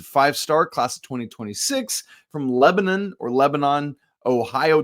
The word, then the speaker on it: Lebanon: He's a 5-star, class of 2026, from Lebanon, Ohio. Depends on what state you're in, how you pronounce that word, Lebanon High School, but